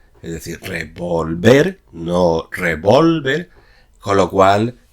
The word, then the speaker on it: revolver: es el verbo revolver, haciendo el acento prosódico en la última sílaba, es decir, revolver, no revolver, con lo